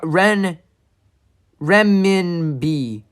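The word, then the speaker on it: renminbi: yet and that's Japanese remin oh my God Ren Min B remin sorry not Yen that's Chinese let's all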